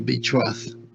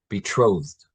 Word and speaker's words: betrothed: Um, it's pronounced betro with a soft with a soft th instead of betroth. betrothed.